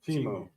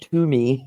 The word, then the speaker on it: Temu: I think it's Timu. Timu. I definitely know it's not Toomey.